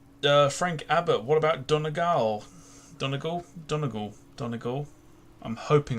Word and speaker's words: Donegal: that's about it uh Frank Abbott what about Donegal Donegal Donegal Donegal I'm hoping I pronounced that right Donegal you do Donegal absolutely we'll definitely do done